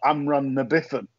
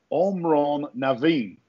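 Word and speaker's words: Amhrán na bhFiann: said he said basically it is pronounced omron naveen and translated it means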